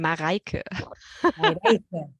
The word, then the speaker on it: Marika: I pronounce that right actually it's German Marika yeah hey I should